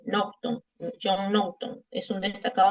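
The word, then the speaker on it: Naughton: Se escribe con su apellido N A U G H T O N. Nocton.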